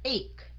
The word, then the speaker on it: ache: A, rồi kế đó là âm K, CH là âm K, phải không? Cái âm E cuối cùng mình không đọc. Thành ra mình sẽ đọc là ache.